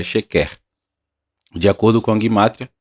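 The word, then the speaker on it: שקר: Na língua do Velho Testamento, na língua hebraica, a pronúncia é sheker.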